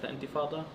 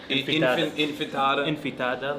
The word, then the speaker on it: intifada: Like now the media is mad about globalized intifada, or they can't even like pronounce it right. Yeah, Like, they say intifada, infitada.